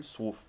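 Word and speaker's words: Słów: i pronouncing that correctly swoof oh because it's the l yeah the l with a line through it is pronounced like a like a w ah a great job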